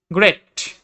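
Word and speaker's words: great: গ্রেট, জি এর পরে আর রয়েছে, সেজন্য এটার উচ্চারণ হয়েছে গ এর মতো।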